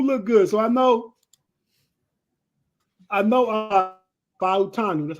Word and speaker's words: Fautanu: So I know Fautanu.